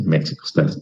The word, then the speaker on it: México: Sí, México también es una buena pronunciación, porque es la X, pero el español dice México, la X la pronuncia como J, ¿sí?